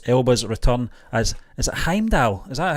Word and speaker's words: Heimdall: It's a Thor 4 director fuels speculation for Idris Elba's return as, is it Heimdall? Is that how you say it? Heimdall, yeah. Heimdall.